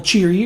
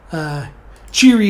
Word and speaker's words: Cheery: again Eaton Kent place constable jeery or Cherie depending on which pronunciation you're going with cheery is the one typically used in the audiobooks so I will be